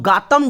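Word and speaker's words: Gatun: ना याद रहे तो गातम डैम नाम दिया होगा। गातम या गौतम जो भी आपका प्रोनाउंसिएशन है, वैसे ये गातम है।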